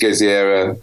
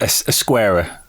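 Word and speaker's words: Ezquerra: But then I love this Geziera art. If I pronounce that right, it's always a shock. Esquerra.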